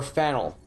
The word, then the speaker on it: Faneuil: you game pronounce Faneuil or fennel Daniel okay get it wrong is a good way to indicate you're not from around here really Vancouver Canada yeah